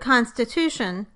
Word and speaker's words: constitution: So in the word constitution, the tu syllable is the strongest and the con is the second strongest.